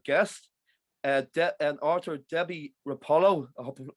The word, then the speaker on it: Roppolo: joined by another guest uh and arthur debbie rapolo pronounced that correct yes you did thank you for